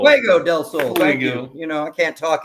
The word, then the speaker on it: Fuego del Sol: Am I pronouncing it right? Fuego del Sol. Fuego del Sol.